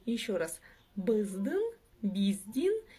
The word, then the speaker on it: Біздің: «Біздің», «биздин» и «біздің». «Біздің». Кстати, в данном случае ударение падает на последний слог.